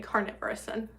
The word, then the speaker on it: carnivorous: You do pronounce the R. Okay. Carnivorous.